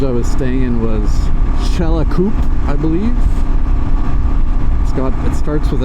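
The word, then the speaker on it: Xcalacoop: was staying in was Chelakup, I believe. It starts with an X, but the X in the Mayan language is pronounced Ch. So I think it's Chelakup.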